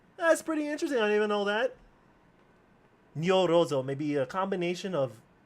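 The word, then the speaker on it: ニョロゾ: But you pronounce his name as Nyorozo. Nyorozo.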